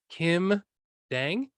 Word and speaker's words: Kim Dang: Kim Dang, is that how I say Yes.